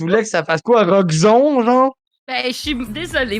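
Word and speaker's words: Roxxon: Roxon, genre? Ben, je suis désolée, moi, dans mon vocabulaire, XON, ça fait pas son, ok? C'est pas grave. Roxon.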